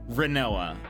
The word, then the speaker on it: Rinoa: rhinoa or I guess a lot of people say Renault I I actually usually say rhinoa which I'm told is a weird call but whatever um so